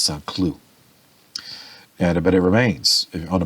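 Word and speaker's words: Saint-Cloud: Cloud, and then in French you don't pronounce the suffix, so it's Saint Cloud.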